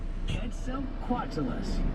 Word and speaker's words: Quetzalcoatlus: Quetzalcoatlus. We'll pronounce this one together. Ready? Quetzalcoatlus, a pterosaur that lived in North America.